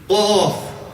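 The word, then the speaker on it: ق: Qaf. Qaf. Kaf. Qaf. Bit further back.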